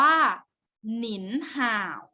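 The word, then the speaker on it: 您好: จ่า ว่า อัน ข้อ ที่ 2 อ่าน ว่า หนินห่าว หนินห่าว ข้อ ที่ 3 อ่าน ว่า หวาน อัน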